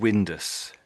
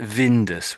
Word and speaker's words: Windus: It's still a bit like Vindus when you're saying it. To me, it's too much of a V sound when you're saying this bit here. But for me, this is like wind. Or Windows. we'll probably say Windus. I've never seen this name before. It's probably Windus. Windus. Windows. Win. Windows. Yeah, so it's the W really.